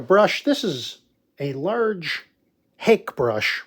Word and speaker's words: hake: this is a large hake brush we call it a hake it's pronounced hockey this brush here you